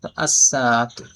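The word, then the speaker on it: الساعة: লাম যুক্ত হলে আস-সাআতু, সিনের মধ্যে তাসদিদ হবে। আর আলিফ লাম লেখায় থাকবে কিন্তু পরে আসবে না। তো সিনের উপরে তাসদিদ যুক্ত রূপে উচ্চারণ হবে সিনটা, আস-সাআতু।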